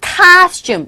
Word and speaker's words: costume: 지금 여기 나온 costume 이거 costume 이때 co에서 o 사운드가 아에 가까운 발음으로 들려서 costume라고 발음하시면 되겠고요.